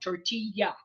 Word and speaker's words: tortilla: instance and they'd say tortilla and we'd all laugh because you know it's not tortilla but they would pronounce it phonetically so it's anytime you see a Double L it's a y tortilla okay I think I